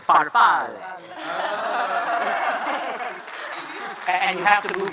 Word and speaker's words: Farfalle: You are pronouncing it as if it is a French word, but it is an Italian word. Farfalle. And you have to move your fingers like this. Farfalle.